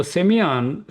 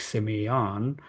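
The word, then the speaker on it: σημεῖον: So Semeion, Strong's number 4592, it's a Greek Semeion. Me, on, that's how it is pronounced.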